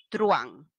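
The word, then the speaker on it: truhan: de engaños y estafas su pronunciación truan tenemos un diptongo la h no impide la formación de diptongos así que es monosílabo sin la tilde paola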